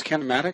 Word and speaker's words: kinematic: that, you can't pronounce kinematic. Kinematic. No, it's like a doubly for me. I used to not be able to pronounce anomaly. I don't know why. It's like cinematic, but with a K.